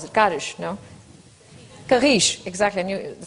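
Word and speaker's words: Carris: How do you pronounce it? Carish, no? Carish, exactly.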